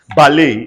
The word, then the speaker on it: ballet: Ballet. The T is silent.